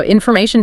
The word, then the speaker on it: information: Think about words ending in neration or ination like information or decision. The stress nearly always falls on the syllable right before that ending. So information decision communication.